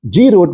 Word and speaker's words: GR00T: that's how it's spelled grot are pronounced grot will act as the